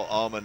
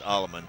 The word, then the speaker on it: Allaman: And Adolfo Allman down Allaman we we we've been pronouncing his name wrong all year. It's Allaman.